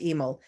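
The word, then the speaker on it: Emil Nolde: are you looking for an emel nold or might be pronounced emo it's e-m-i-l and then n-o-l-d-e that's familiar you have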